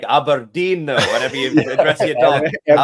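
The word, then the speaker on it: Aberdeen: time there that's brilliant you got to say it like aberin though whenever you address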